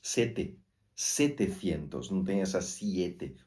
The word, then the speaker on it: siete: e 700 no espanhol não se diz sete se diz Siete normalmente os brasileiros caem